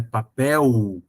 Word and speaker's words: papel: exemplo a descobrir que papel se escreve com l no final apesar de se pronunciar u né papel a criança acredita que